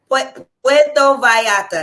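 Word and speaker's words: Puerto Vallarta: vera for the 29 yeah PTO Vata that's how you pronounce it PTO Vata when we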